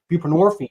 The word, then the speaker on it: buprenorphine: we give narcotic addicts buprenorphine which rhymes with morphine Suboxone um and the